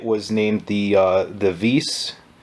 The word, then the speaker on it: WiS: named the uh the vis since the w is pronounced as a v um in in polish